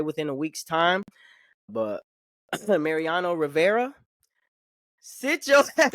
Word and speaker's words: Mariano Rivera: My s your ass down is going to Marino Rivera. This is the the former Yankees or closer right pitcher. I'm Mariana Rivera. Mariano Rivera.